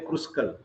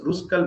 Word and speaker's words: Kruskal: for ruskal valley's test don't say kruskal k is silent it is ruskal ballistas previous slides are